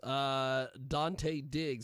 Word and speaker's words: Dante Diggz: Dante Diggz. That's DanteDiggz, which it sounds exactly like you'd spell it.